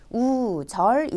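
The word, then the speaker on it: 右折: 다음 으로 , 아래 한자 를 보시면 우리말로 는 " 우세쓰 " 라고 읽습니다 .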